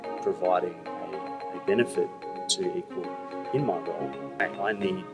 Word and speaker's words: EQWell: but it also is another way of saying equal you know and and